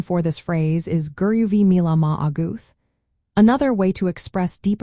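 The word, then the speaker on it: go raibh maith agat: The pronunciation for this phrase is guru vi auth.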